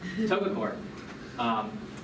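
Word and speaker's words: TOGA COARE: So what I'm showing you here, this is from a field campaign, Togacor? Do you know this? Yes, that's how you say it. Yes, okay. Togacor.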